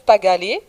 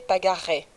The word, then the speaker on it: Pagalé: On va commencer à parler des grands chefs amérindiens, de certains de ces grands chefs amérindiens, et le grand chef Pagalé, qu'on retrouve en français prononcé Pagaret.